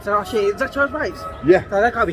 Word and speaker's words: Veitch: So oh shit, is that Charles Veitch? Yeah. So that can't be him. But really. you have to pronounce it Veitch. Veitch, right?